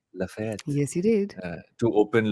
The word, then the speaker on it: Galeries Lafayette: I pronounced that Mm-hmm. right? Lafayette.